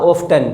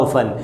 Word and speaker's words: often: कुछ बच्चे इसे बोलते हैं हाउ ऑफ्टन। प्लीज़ मेरी रिक्वेस्ट रहेगी, हाउ ऑफ्टन नहीं, इसका करेक्ट प्रोनाउंसिएशन है हाउ ऑफन।